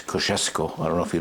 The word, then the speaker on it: Kosciuszko: The true pronunciation is Kosciuszko.